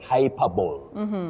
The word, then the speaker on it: hyperbole: you don't talk of hyperbole. Some people say hyperbole with a lot of punch and confidence, but we don't have something like that in English. You say hyperbole. Hyperbole, not hyperbole.